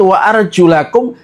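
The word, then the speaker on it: وَأَرْجُلَكُمْ: Imam Nafi', Ibnu Amir, dan Kisai membaca lafadz wa arjulakum dengan i'rab nasab, dengan di fathah lamnya.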